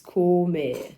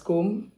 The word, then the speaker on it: SCOME: So yeah, first of all, what is Scome? Scome. Okay, some persons pronounce it as Scome or Scome or Scome, but it's SCOME.